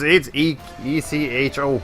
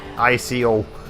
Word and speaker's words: Eco: Yeah, it's ECHO. It's not ICO.